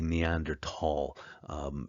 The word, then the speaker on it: Neanderthal: so we say the Neanderthal H is silent but we continue to use it in science either way let's take a look